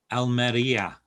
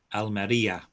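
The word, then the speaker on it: Almería: spain and ian romero almeria don't forget when there's an accent the stress goes on that letter almeria gizelle what we got next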